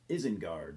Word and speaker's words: Isengard: the debut full-length album from eisengard or as Fenris himself calls it isn't guard uh how do you